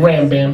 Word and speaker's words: Rambam: the great rabbi maimonides rambam not ram bam some of these information they try to pronounce the name ram bam sounds like some kind of hollywood movie it's rambam a brain surgeon in